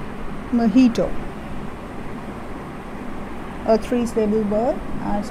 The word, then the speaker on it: mojito: cuba once now it's very common so it's pronounced as bajito it's not mojito please please please it's mojito mojito a three stable bird as pronounced as mojito